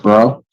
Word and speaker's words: Bro: It's pronounced bro. Bro, like B R O.